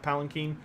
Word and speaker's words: palanquin: ER Quinn personally but I realize it's actually pronounced palen Keen um and he had like a whole thing